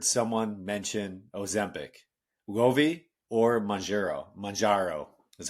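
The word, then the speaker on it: Mounjaro: Majaro is how you say it.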